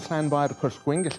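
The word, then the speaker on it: Llanfairpwllgwyngyll: Lo que casi nadie te dice es que para pronunciarlo correctamente hay que dominar el sonido de la doble L galesa, que no suena como la española, sino como un siseo lateral.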